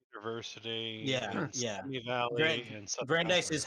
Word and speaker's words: Brandeis: Brandeis, I believe, is the At pronunciation. American Jewish University Yeah, in yeah. Simi Valley in Southern Brandeis is California.